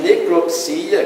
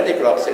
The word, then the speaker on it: necropsia: Apesar da palavra autópsia ter uma vogal tônica do O, a forma necropsia, que possui o mesmo significado, deve ser pronunciada com ênfase no I. Não é necrópsia, é necropsia.